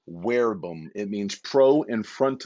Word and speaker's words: verbum: and werebum or verbum there's really no v in latin so you pronounce it v as a w most don't know that so pro werbum it means pro in